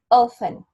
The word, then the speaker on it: often: is this one often in this word letter T has no sound so we pronounce it often that is the correct